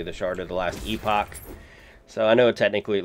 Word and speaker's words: Epoch: It's actually the shard of the Last Epoch. So I know technically it looks like Epoch, but they pronounce it Epoch in this game.